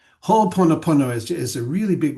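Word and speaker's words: Hoʻoponopono: So ho, because there's two O's there. So you pronounce both O's. Ho pono pono.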